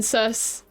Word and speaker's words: Circe: So I love this family because Loki is obviously a name from Norse mythology, and then Circe, I say it's Circe, but I've heard people call it Circe.